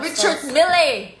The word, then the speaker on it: Richard Mille: No, Sergio, it's not Richard Mille. It's Richard Mill.